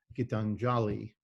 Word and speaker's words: Gitanjali: on Yeats's introduction to Gitanjali. And I'm pronouncing that slightly wrong, right? So correct me on that one. Or is it? No, it's fairly accurate, yeah.